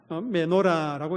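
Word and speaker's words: מנורה: 여러분, 성막 안에 놓여진 등잔대, 여러분, 그 등잔대에 가요, 히브리어로는 이렇게 읽습니다. 메노라라고 읽습니다. 메노라.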